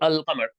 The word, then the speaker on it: Allah: the word uh but you would say Allah because you don't double it so the L is there in a sense but it's silent it's silent and it doubles the following letter it's a pronunciation rule rather than this exactly